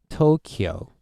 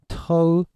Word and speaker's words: Tokyo: capital city of Japan, Tokyo. So English speakers always pronounce this as Tokyo, right? Kyo. But it's not. We have to combine them like kyo.